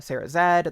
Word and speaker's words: Sarah Z: co-write for the channel Sarah Zed. That's just the letter Z, but it's Canadian, so you say it like Zed.